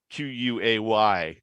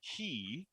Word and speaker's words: quay: like k versus key q-u-a-y uh really threw me both that i originally thought it was pronounced quay um because it looks like it is then eventually i learned that it's actually pronounced key then i uh met